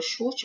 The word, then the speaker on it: chute: Por isso que, se a gente for fazer aqui a transcrição fonética da palavra chute, vai ficar X-U-T-E.